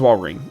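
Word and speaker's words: Walrein: at why am I doubting yeah it is wal ring okay cool for some reason my brain was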